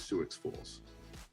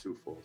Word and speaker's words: Sioux Falls: And I said, by the way, where's Sioux Falls? And he's like, where's Sioux Falls? First of all, it's pronounced Sioux Falls.